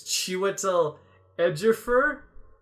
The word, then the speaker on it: Chiwetel Ejiofor: Also, it's this guy whose name I can never pronounce. Even when I hear it, I'm like, ha, no chance. It's Chiwetel Ejiofor.